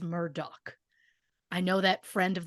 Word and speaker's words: Murdaugh: spelling of the name my instinct is to say murder but after hearing Alex say his own name I am going with how he says it which is Murdoch I know that friend